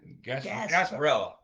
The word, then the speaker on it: Gasparilla: How do you pronounce that? Gasparilla.